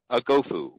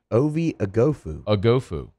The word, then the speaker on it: Oghoufo: for LSU by the way they have the pronunciation here it's uh let's see you want to listen to it let's see Obi agofu there I love this is super handy do